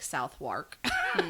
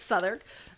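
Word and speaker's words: Southwark: ever to work at um southern i believe that's how you say it uh it's like south wark but it's southern mortuary and she became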